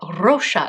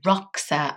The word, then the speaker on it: Roxa: edition Roser palette or Roa going to try and roll my ores I had very stupidly been mispronouncing it as roxa and a lovely subscriber did tell me that it's Portuguese so I'm hoping I